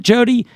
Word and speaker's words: Jodi: It's Jodi Rudoren.